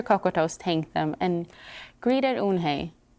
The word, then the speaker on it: Unhei: no unhey corrected spell u n h e i it's pronounced unhei oh it's yohei the buoyance like you hey what about hey you